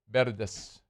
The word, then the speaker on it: Verdes: You're too You're too sharp on the V. It's Verde. Yeah.